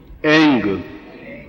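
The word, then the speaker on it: ऐं: अब हुम इसमें म आया है और श्रीम, रीम, क्लीम इसमें म आया, केवल एक जगह ग आया है, एंग। ठीक है, उच्चारण समझ गया? एंग, एम नहीं बोल सकते, एंग।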